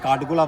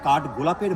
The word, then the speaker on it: কাঠগোলাপ: Madam, আমরা বর্তমানে যে স্পটটা দেখতে এসেছি, এই স্পটটার নাম হচ্ছে কাঠগোলা বাগান, কিন্তু এটা অ্যাকচুয়ালি প্রোনাউন্সিয়েশন হবে হচ্ছে কাঠগোলাপের বাগান বাড়ি।